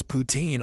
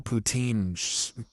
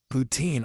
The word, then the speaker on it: poutine: It's like, yeah, I had the kale poutine smoothie. It was delicious. Yeah. Poutine. I know some of you pronounce it poutine, but you're still saying poo.